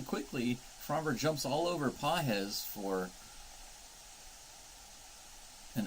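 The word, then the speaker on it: Pagés: Pages as a strike pz is how you say his name I'm sorry it's a g not a j so I didn't know it was pz I've been calling him Pages pz second Pitch high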